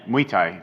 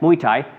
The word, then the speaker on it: Muay Thai: It looks like Muay Thai. Thai, like Thailand. Yeah, Thailand. Muay Thai. Yeah, Muay Thai.